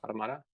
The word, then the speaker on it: Automata: how do you pronounce it? Automata? Automata?